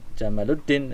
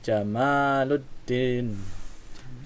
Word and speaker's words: Jamaluddin: Jadi kalau antum kasih nama anak antum jangan Jamaluddin nanti unta tapi Jamaluddin ya. Pan panjang ya.